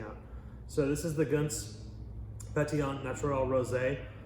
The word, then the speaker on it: Gönc: So this is the Gönc Pét-Nat Natural Rosé. It's spelled G-O-N-C, but that's pronounced Gönc.